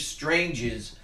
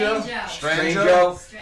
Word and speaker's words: Strangio: The new Mickey B show that's coming, and we also have Steve Stranges. What is it? How do you pronounce it? Strangio.